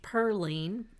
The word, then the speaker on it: Pauline: and then pearline Pauline but it's pronounced pearling in North Carolina back then comes in from Tennessee